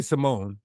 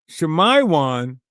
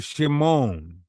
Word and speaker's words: Shimon: It's really Simone. is shamiwan. Shamaywan does not preserve the original consonant structure. It adds letters, removes letters and breaks the root. Simone or shimon.